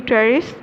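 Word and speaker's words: Pteris: ट्रेरिस, P silent है यहाँ पे, एडियंटम, मार्सिलिया एंड ड्रायोपिटेरिस.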